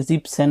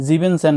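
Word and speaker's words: siebzehn: ই এন কিন্তু নাই যখন আপনি জিপসন বলবেন মানে 17 যখন বলতে যাবেন ওকে এটা এটা মাথায় রাখবেন কিন্তু এটা যাতে মুখস্ত থাকে জেক্স সেন বলবেন না জ্যাকসন বলবেন জেক্স সেন না জেন জিপসন জিবেন সেন কিন্তু না জিব সেন বলবেন তারপরে আট মানে আট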